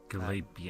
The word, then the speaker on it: Galapian: Galapian. Galapian. Like Galapian? think Galapagos Islands.